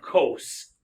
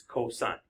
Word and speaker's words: cosine: Just like this is not cos. Okay? It's cosine. Okay?